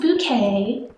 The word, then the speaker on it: Bucket: Hyacinth Bucket, it's pronounced Bouquet, who is married to a middle-class office worker and is very obsessed with, as the title might imply, keeping up appearances.